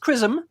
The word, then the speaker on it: XRISM: the Japanese x-ray telescope um xrism apparently is pronounced Chism Japanese released its first image from this new